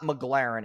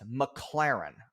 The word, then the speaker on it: McLaren: Okay, so this part pisses me off because he says the name wrong like 8 times in a row. It's not McLaren, it's McLaren.